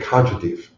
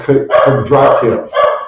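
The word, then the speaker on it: Kondratiev: Look up a guy named Konchatev. It's pronounced a couple different ways. Konchatev or Kondratev, right?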